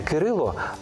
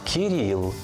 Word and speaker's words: Кирило: згідно з російською вимовою не Микита а нікита не Кирило а кирл не Данило А даніла чи Даніїл без сумніву батьки мають